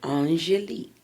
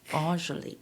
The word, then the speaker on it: Angelique: And we have to make sure that we pronounce it correctly. Angelique. Angelique.